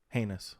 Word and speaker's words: heinous: in this heinous crime heinous heinous rhymes with anus sorry okay we're professionals